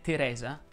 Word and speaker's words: Teresa: chiuse federica ed egidio se il tuo nome teresa la e va aperta ovviamente solo la seconda si pronunciano con la